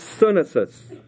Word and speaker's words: sunesis: The Greek word is sunesis. That's the word understanding, sunesis.